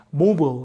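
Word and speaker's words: mobile: 요거 한번 설명해 드릴게요 요거 이제 우리말로 하면 모바일이 그래서 아까도 말씀드렸지만 영국 바음 하고 비슷해요 영국 발음도 이렇게 해요 근데 이게 이제 미국 가면 약간 발음이 모블 이렇게 되는데요음 원래 이런 뜻이죠 이동의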